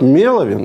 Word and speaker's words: MELOVIN: У него тут ударение даже стоит. Меловин. Давайте Меловин. Он все-таки 240 тысяч подписчиков.